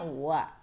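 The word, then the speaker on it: は: ya atau pokok kalimat partikel wa ini ditulisnya dengan huruf H hiragana tetapi dibacanya Uwa ya Tapi ketika kalian Eh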